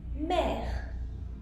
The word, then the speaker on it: mère: Now, if you take E and you put the accent the other way, then it is pronounced E. For example, mère, which is mother.